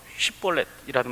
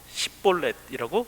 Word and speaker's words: 쉽볼렛: 쉿볼렛이라고 말하지 못하고 십볼렛이라고 말하는 거죠.